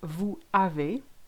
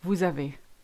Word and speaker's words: vous avez: Instead of saying vous avez, we say vous avez.